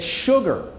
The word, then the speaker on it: sugar: Clemens, did you know that sugar is the only word in the English language where S-U is pronounced shh?